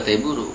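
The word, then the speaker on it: テーブル: Dibacanya juga T buru gitu.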